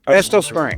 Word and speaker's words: Estill Springs: How do I pronounce it? Estill Springs? Estill Springs.